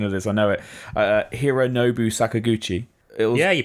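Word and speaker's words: Hironobu Sakaguchi: butcher the pronunciation of this I know it Hiro Nobu Sakaguchi yeah you pronounced avaya yeah yes okay no fantasy fan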